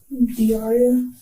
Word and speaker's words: Dauria: How do you pronounce that? Diaria.